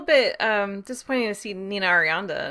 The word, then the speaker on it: Nina Arianda: um disappointing to see nina arianda and or did i say her name wrong no you got it yeah to see her